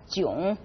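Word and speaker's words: 囧: now when we use that culture which is pronounced as June we mean feeling embarrassed or frustrated probably the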